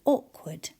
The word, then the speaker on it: awkward: Ward is how it's spelt, but we tend to say awkward.